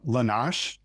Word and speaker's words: Lanash: Erin uh Lanash is how his last name is pronounced.